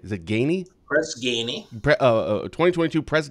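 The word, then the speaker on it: Ganey: 2022 press how do you say is it Gainey Chris Gainey uh 2022 press Guinea Human Experience guardian of excellent award say that again 2022 press Gainey Human Experience guardian of Excellence award that is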